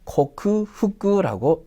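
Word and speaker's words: 克服: 극복해 같다라고 돼 있죠 극복은 코크 후 그라고 읽어요 그래서 뭐를 극명하게 보여주다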